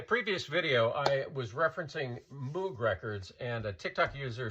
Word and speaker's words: Moog: Basically, in Germany, his last name is pronounced Moog. In Great Britain and other English-speaking countries, it's pronounced Moog, because in English-speaking countries, you see the two O's and you assume it's pronounced Moog, and that's my defense,